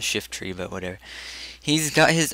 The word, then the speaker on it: Shiftry: Shiftra. No, it's actually pronounced Shiftry, but whatever.